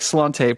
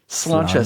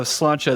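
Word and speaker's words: Sláinte: It looks like slante, but it's not that. It is pronounced. It is. Oh, it's slanchcha. Slancha. So, here we go. Slancha.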